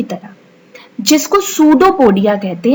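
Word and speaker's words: pseudopodia: उंगली की तरह, जिसको सूडोपोडिया कहते हैं। यहाँ साइड में आप देखिए सूडोपोडिया की स्पेलिंग लिखी है, पी से स्टार्ट है सूडोपोडिया, लेकिन पी साइलेंट है।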